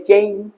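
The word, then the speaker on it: chain: চিইচ ঠিক আছে যেমন চেইন সি এইচ আই চেইন নট চেইন চেইন নয় চেইন সি এইচ এ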